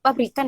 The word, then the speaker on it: Fabricant: Bacanya itu pabrikan ya, bacanya fabricant.